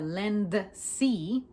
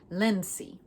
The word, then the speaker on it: Lindsay: When it comes to pronunciation, I want to accentuate that D that is present as well. Lindsay. I usually say Lindsay. A little slight D. Lindsay. It's just so subtle that you can barely catch it unless I slow down.